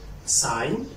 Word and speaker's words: sign: Also, center G, I cannot pronounce it if it comes before N, such as no, no, no, or sign, sign, sign.